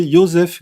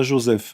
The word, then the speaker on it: Joseph: livre historique est d'abord je vous prierais de prononcer yosef goebbels et pas joseph mais bon c'est la